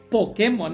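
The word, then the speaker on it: Pokémon: pokemon en realidad gente es pokemon y así es como se dice pokemon porque lleva acento en la e pero nosotros en méxico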